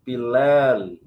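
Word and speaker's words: פלל: A pronúncia é assim, pilel.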